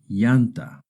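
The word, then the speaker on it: llanta: Remember two L's together make a Y sound like the Y in English. Yanta yanta.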